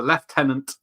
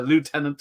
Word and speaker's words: lieutenant: make piece because uh he's a left tenant in Britain and he's a lieutenant in New York yeah yeah yeah I've